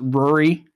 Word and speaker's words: Ruri: I think her name is spelled Ruli, but I don't think in Japan they spell with L's. So, like, they pronounce it Ruri.